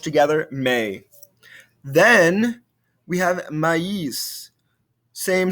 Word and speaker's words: maïs: So placed over the second vowel when two vowel sounds are next to each other, and both should be pronounced separately. For example, Noël, maïs. We hear a difference between the A sound and the I sound.